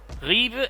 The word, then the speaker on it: Ribe: Otherwise you got Hedeby, Ribe and Aarhus. I'm basically using the Danish names as they're supposed to be pronounced in Danish for them, by the way.